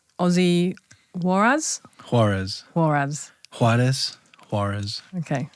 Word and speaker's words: Juarez: so I'm saying your name right Aussie Warz harez HZ harez harez okay pronunciation so we just got into the studio